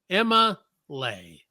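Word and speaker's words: Emma'Leigh: Now you spell it E-M-M-A apostrophe L-E-I-G-H. Emma Lay.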